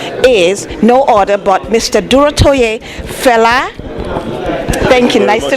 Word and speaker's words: Durotoye: Durotoye Fela. Thank you. Nice to meet you. Did I say it right? Yes, Fela Durotoye.